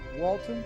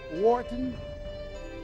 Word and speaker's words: Wharton: He has an MBA from Walton. Am I pronouncing it? Wharton?